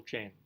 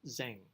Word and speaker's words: Zheng: life the tale of Uncle Jen of Uncle Zhang if he was to say his name correctly of saying her Lord